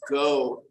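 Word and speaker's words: geaux: just had to say go Tigers and it's spelled g-e-a-u-x go Tigers uh hopefully I'll be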